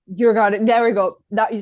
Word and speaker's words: Djurgården: I'm not going to try and pronounce it. Djurgården? Djurgården, there we go.